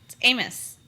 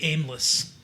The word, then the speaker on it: Amos: Maybe it was the fairies that changed the pronunciation of her last name. It's Amos. Tori Aimless.